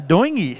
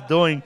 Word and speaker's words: Doiney: Yes, Aaron Doiney is the pronunciation. I always thought it was Doing.